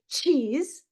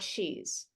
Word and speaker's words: cheese: cheat not sheet and this is cheese not shees okay so very very